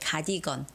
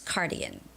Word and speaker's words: cardigan: In Korean, we call it kadigon, but it's cardigan, okay?